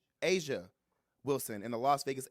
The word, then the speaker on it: Aja: by Fox 5 Vegas, Aja Wilson and the Las Vegas Aces, I probably said it wrong. Say it again. Asia Wilson and the Las